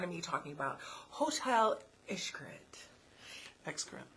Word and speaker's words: Xcaret: So, and then the one that you always make fun of me talking about, Hotel Xcaret. Xcaret. It's Xcaret. The Mexican restaurant tip is called Xcaret. But I think everybody's pronouncing it wrong.